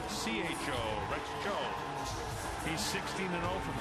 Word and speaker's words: Tso: Rex Cho, spelled T-S-O, pronounced C-H-O.